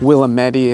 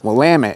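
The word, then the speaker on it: Willamette: Portland alone as there are ways to improperly pronounced wamit this one really confuses some newcomers to the area it's not willit it's not willami it's wamit damn it now you can't talk about northeast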